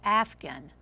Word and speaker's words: afghan: Spell afghan. What? This is a word with a silent letter.